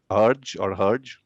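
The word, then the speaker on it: Hergé: It's a French pronunciation, Mr. Herge, who created Tintin.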